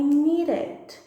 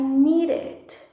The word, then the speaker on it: needed: Então, eu precisava, I needed, I needed, I needed. Aí sim a gente pronuncia o E.